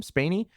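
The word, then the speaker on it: Spaeny: Spaney?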